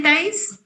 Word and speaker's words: Thais: ¿Lo pronuncio bien, Thais? Si no, corrígeme. Sí, es Thais. Perfecto, Thais. Sí, sin acento, gracias.